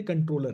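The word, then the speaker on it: comptroller: कैग इज कॉम्ट्रोलर, लिखते हैं कॉम्ट्रोलर लेकिन पढ़ते कंट्रोलर है। ठीक है, पढ़ा मतलब बोलने में इट is, pronunciation is कंट्रोलर।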